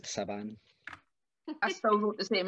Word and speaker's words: Sabin: Chris Sabin. Yeah. Excellent. It's pronounced Saban.